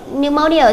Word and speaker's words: pneumonia: Câu B chúng ta đọc là pneumonia. Với từ pneumonia thì cho âm sẽ rơi vào mâu.